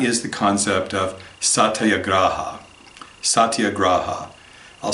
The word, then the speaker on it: Satyagraha: Satyagraha. I'll spell it for you, but it's also in the Slack channel. Satyagraha.